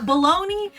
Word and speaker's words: bologna: This is Bologna. Yeah, baloney. Someone explain to me how the fuck did we teach an entire country that baloney made sense in grammar. Yeah. You know, like what other word is spelt like that and makes that sound?